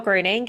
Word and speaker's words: Gruening: I love hearing the proper German pronunciation of it. So that was a gift. So my name is Gruening.